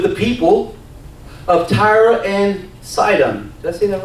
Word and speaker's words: Sidon: very angry with the people of tyre and sidon that's seen that right I said it right